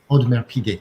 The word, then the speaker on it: Audemars Piguet: I mean, I can certainly see a brand like, pick your favorite, like if a rare Audemars Piguet, how do you say it? Audemars Piguet. Audemars Piguet, thank you.